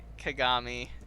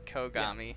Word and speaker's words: Kagami: ours for now yeah kagami not kogami sure man that's my